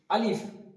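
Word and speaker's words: ا: আলিফ। আলিফ, just একটা বাতাস বেরোবে।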